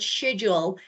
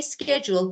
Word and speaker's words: schedule: I don't know why but British say read this word schedule but actually this is schedule. We say schedule but they say schedule.